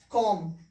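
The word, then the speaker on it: comb: कॉम। ये क्या उच्चारण होगा?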